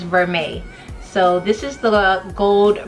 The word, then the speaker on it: vermeil: very chic sorry guys the correct pronunciation is vermeil so this is the